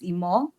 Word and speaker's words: Imoh: First of all, I start by saying my name is Immore and immore means wealth.